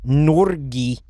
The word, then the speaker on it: Norge: Mike, if you don't start calling Norway Norgi, I'll add it to a Google docie. Norgi? How do you pronounce that?